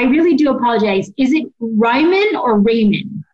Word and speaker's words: Reiman: Yeah, I always tell people, too, when, you know, just on their notes and stuff, just spell it R-Y-M-A-N. That'll make you remember Reiman.